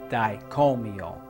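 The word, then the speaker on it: Dai Ko Myo: is the Reiki yusui master symbol it is pronounced dicomio practice drawing it and saying it for several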